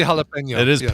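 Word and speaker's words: jalapeño: Pino righten jalapeno jalapeno but it really is halap is it really it's really jalapeno really that one really does have an Ena habanero does not so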